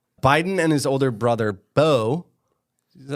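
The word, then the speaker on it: Beau: Biden and his older brother, Bo, is that how you say it? Yeah, Bo.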